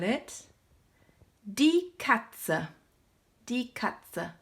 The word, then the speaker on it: Katze: Die Katze. Remember to pronounce at the end of the word.